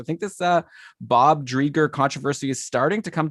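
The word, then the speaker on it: Driedger: knight chris drager uh correct me if i'm saying his name wrong well i'm not gonna correct you on that but i think you are it's chris drieger but i'm gonna correct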